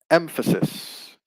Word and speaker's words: emphasis: So from emphasize, we get the noun emphasis. So the stress stays in the same position, first syllable, and the adjective would be, we've got emphatic.